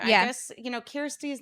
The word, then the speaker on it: Kirstie: Well, I don't think it's difficult for people to say, but it's like they read it and they want to say Kirstie or they want to say Christy Do or I they.